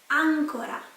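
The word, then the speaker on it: àncora: accent but for example with the word angora angora uncle Ramiz the accent is on the first a but is not pronounced if I'm changing this accent in ancora so the accent is in on the oh it means more again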